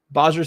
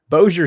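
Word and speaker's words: Bossier: go so the U boser City area that's not how you say that I'm tired guys Boer City I believe it's how you pronounce that sorry about that shreport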